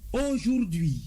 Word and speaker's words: aujourd'hui: C'est d'ailleurs la meilleure prononciation. A U J O U R D apostrophe H U I se lit aujourd'hui.